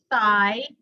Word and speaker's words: thigh: So interdental, we have here, an example is thigh and thy. So as we spell them, we are still going through the TH kind, but there are two kinds of TH. One is the voiceless, or the soft TH, as some people call